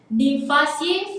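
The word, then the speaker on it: Nymphaeaceae: You might have difficulties in pronouncing their name, but yeah, Nymphaceae for water lily and Nelumbonaceae for lotus.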